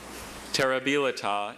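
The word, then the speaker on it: terribilità: I have just the one pronunciation. Terabila. Terabila.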